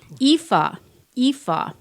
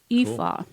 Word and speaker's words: Aoife: Pretty much ignore the first two letters when you pronounce Ignore the it first and two letters.